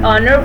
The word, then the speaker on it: honor: The first letter of the word honor, for example, is a consonant, but it's unpronounced. In spite of its spelling, the word honor begins with a vowel sound.